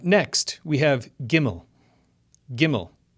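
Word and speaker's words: גימל: Next, we have gimmel. Gimmel, which makes the G sound like in game.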